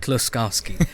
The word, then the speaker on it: Kloskowski: Austin the amazing author the Photoshop guy close Kowski I just hope I pronounced your name right did I you did